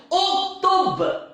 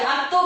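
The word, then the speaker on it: اُكْتُبْ: Uktub. Uktub. Uktub. Apa namanya? Tulislah. Jangan baca aktub. Orang-orang agak gelak nanti apa benda lah dibaca. Bacanya apa? Uktub.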